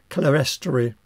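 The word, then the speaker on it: clerestory: and then above that the clear story incidentally some people pronounce it clester uh either will do uh and in this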